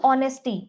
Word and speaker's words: honesty: When you use this word honesty, when you use this word honesty, the H sound is missing or the H is silent. H sound here is silent. So the word is honesty.